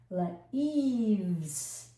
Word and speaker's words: leaves: Leaves. This E after V is silent.